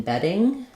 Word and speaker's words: bedding: vowel can become flapped same as a D in the middle like in Bedding um that's also a flap sound so hold on hold